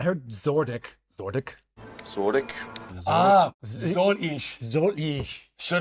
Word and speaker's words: soll ich: Zordik. Did he say Zurich? I heard Zordik. Zordik. Zordik. Ah, soll ich.